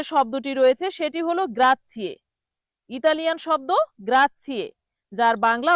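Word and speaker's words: grazie: প্রথম যে শব্দটি রয়েছে সেটি হল গ্রাথিয়ে। ইতালিয়ান শব্দ গ্রাথিয়ে। যার বাংলা অর্থ ধন্যবাদ। বাংলা অর্থ কি? ধন্যবাদ। অনেক বাঙালি এই গ্রাথিয়েকে গ্রাজি বলে। কি বলে? গ্রাজি কিন্তু সঠিক উচ্চারণ হবে গ্রাথিয়ে।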